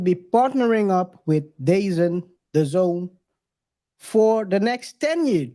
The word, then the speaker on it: DAZN: day is at n I don't know people pronounce it very differently before I knew how it was that that was the Zone because it's written the D e a z n I thought it was basin I don't know I'm